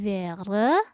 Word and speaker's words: wäre: Kalau A umlaut bacanya seperti apa sih? A menjadi E, maka menjadi wäre.